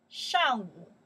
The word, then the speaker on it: 上午: Shang Wu. Yes. Shang Wu.